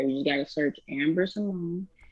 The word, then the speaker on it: Cimone: You just gotta search Amber Simone, and the Simone is spelled Cimone. C I'll I be M O N E.